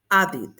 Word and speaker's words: added: En T o D, vamos a pronunciar un id. Added, el pasado.